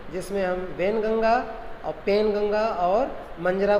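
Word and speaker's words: Wainganga: है, फिर मंजरा है, और फिर जो है वालगंगा है ना, वैनगंगा, सॉरी इसका प्रोनाउंसिएशन करेंगे आप, वैनगंगा, ये इसकी सहायक है।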